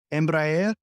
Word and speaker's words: Embraer: talk about let me see if I can pronounce this right right uh what's it called Embraer yes that's exactly you're right all right is